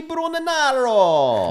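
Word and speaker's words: Brugnaro: famed grand canal this week prompting mayor luigi bruno narrow that's exactly how you say it who are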